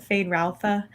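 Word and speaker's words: Feyd-Rautha: ideas um how about was it fayette rutha oh yeah the audiobook said fade ralpha um barry kogan is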